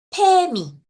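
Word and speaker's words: 페미: gusta pali pali y otra cosa es que nosotros no pronunciamos la f correctamente por eso lo decimos p y y Dicen que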